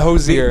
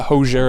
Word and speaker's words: Hozier: their name right you know thank you the pronunciation on your name is the hardest part yeah hozier because people have called it everything you know yeah yeah hozier and cosy yeah yeah yeah you must like